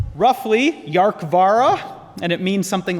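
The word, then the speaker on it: Dearcmhara: So it's pronounced roughly Yarkvara, and it means something like sea dragon in Gaelic.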